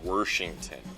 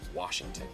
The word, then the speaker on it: Washington: So if there's a word that gets mispronounced in Washington, it's gonna be from the older generation, and it's Worshington. And all of the youngins, we say, no, it's Washington.